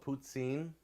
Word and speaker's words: poutine: the French call it putsin uh there's a like an S sound in the middle of it uh however you want